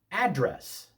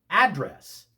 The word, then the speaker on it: address: Address with the accent on the second syllable is a verb meaning to speak to someone directly.